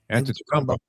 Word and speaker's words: Antetokounmpo: How do you pronounce uh Giannis's last name? Antetokounmpo.